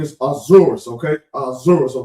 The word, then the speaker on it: Ahasuerus: Now now, the the name is Ahasuerus, okay?